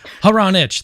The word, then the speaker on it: Hronich: Hronich. There's three different syllables.